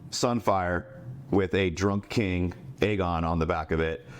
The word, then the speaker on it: Aegon: And it turns out, like you said, it's Sunfire and King Aemon, King Aegon. There we go. King Aegon, said it right.